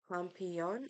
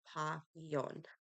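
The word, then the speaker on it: Papillon: be checking out uh pomon oh gosh I can't pronounce things oh papon not there's no m in there papon I tried my best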